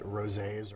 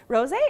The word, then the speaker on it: rosé: Rosé is big right now. It's been big for a little bit because, I mean, it rhymes with all day, so rosé all Rosé all day.